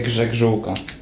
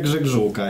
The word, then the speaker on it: grzegrzółka: Dawajcie grzegrzółka.